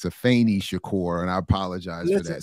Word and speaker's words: Afeni Shakur: I was leaning too much on the E and got a tech correction. It's Afeni Shakur, and I apologize for that.